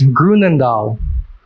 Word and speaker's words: Groenendael: All right, contestant, your word is Grunendahl. Grunendahl. Grunendahl. GRUENENDAL. Grunendahl. I'm sorry, contestant, but that's incorrect. Grunendahl is spelled Groenendael.